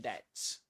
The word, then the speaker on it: debt: Student debts. Yes. Very good. Did you know that guys? Did you know about catenation? And did you know that debt that the B silent in debt? Yeah, it is silent.